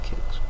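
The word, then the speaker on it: Qix: Volleyball, Kicks Neo, or Quicks. How do you say that one? Kicks or Quicks? I've always said Kicks.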